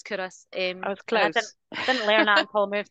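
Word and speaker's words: Culross: for yeah you're right it's curus it's spelled Ross but it's curus didn't learn that until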